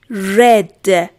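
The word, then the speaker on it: read: فرم سادش فرم گذشتش رد فرم اسم مفعول رد اسپل شون یکیه بچه‌ها تلفظ اشون متفاوت میشه دقت کنید رد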